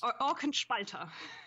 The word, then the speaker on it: Orkenspalter: Orkenspalter? Is that how you say it? Yes. Yes. Orkenspalter. Orkenspalter. Sorry. I'm trying. I'm learning. Yeah. It sounds much more aggressive in German.